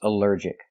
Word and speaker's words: allergic: Allergic is three syllables. Allergic. The stress is on the second syllable. Allergic. Allergic. Here the al is not pronounced all but pronounced uh like in cup and up because it's not stressed.